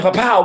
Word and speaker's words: Papua: They told me, my wife was telling me I was mispronouncing it, but when I talked to the brothers and sisters, they were like, "No, keep saying Papua.